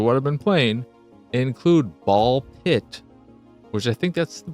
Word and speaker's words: Ball x Pit: not spy cross family it's not spy x family it's spy family or hunter hunter and I think ball pit is another example of the x is silent and in those titles